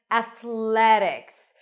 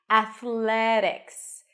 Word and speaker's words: Athletics: a a and then Athletics notice that the t is pronounced as a soft D it's called a flat T Athletics Athletics the primary stress is